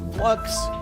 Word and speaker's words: f.lux: Number 9 is Flux, or F.Lux, depending on how you know it. It really doesn't matter how you pronounce the name.